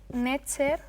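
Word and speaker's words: nṯr: Ah, sí, que se lee Netcher. Ncher. Bueno, lo que no sabemos realmente cómo se pronuncia, lo que se hace por convención es colocar una e entre cada uno de los sonidos consonánticos.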